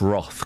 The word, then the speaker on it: wroth: He felt my wroth. Yeah, it's pronounced Roth, guys.